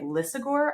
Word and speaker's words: Lisagor: And in addition to winning 2 Peter Lisagor, did I say his name right? Lisagor Awards? You absolutely did.